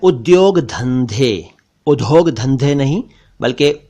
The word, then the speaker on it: उद्योग: है उद्योग यानी इंडस्ट्री इसे कुछ लोग उदोग कुछ लोग उद्योग और कुछ लोग कुछ और कहते हैं जबकि यह है उद्योग इसी से बना औद्योगिक